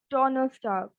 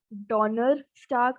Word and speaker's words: Donnerstag: Next is Thursday as Donnerstag.